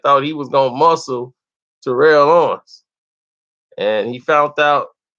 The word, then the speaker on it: Terrell: If you call him Terrell Owens, he gonna have a fit. It's Terrell. I'll be like, well, it ain't spelt like Terrell, but okay.